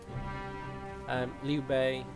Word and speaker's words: Liu Bei: So I'll be saying that even though it's spelled this way. Think about it like the Silent Sea. Liu Bei, Sun Jian, Yun Zhizan, Yun Xiao, Yun Xu.